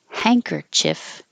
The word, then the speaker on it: handkerchief: D change into an NG so instead of an in in the front hand it's hang like a hanger and you're going up in the back hanker and you can say Chief or chiff or chuff hanker Chief handkerchief handkerchief either way because they're not it's not stressed at the end it's not as important as hang hangkerchief this is the more